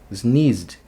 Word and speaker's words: sneezed: Qual é o último som? Sneeze. Z. esse som z é vozeado ou não é vozeado? Z, você consegue fazer sem vibrar as cordas vocais? Z, não, ela vibra. Então, ele é aqui pertence à segunda coluna, faz um sonzinho de D, um D rápido.